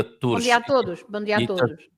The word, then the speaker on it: bom dia a todos: Bom dia a todos. It does tend to get eaten up, I think, in the in the saying of it, which then has the foreigners thinking the in the middle there doesn't exist.